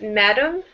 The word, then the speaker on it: madam: And now this word here is madam. The math part is the strong part, madam.